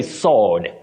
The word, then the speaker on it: sword: say sword sword no the W in this word is silent just like in the word answer but do we say